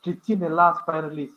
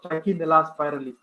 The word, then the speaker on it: Trichinella spiralis: There is one parasite known as Trichinella spiralis. Some people pronounce Trichinella spiralis. All of the same. I pronounce Trichinella spiralis.